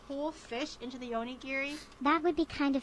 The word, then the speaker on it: Giri: to practice saying my name again except louder Gary my name giri say it again Miri where did you Mir